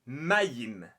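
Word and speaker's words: מים: En cananéen, c'est l'ancêtre de l'hébreu, l'eau, ça se dit mayim. Et ça se présente comme ça. Enfin, ça s'écrit comme ça.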